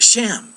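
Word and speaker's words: שם: uh hebrews 80 34 the word shem but it's pronounced sham and that's why you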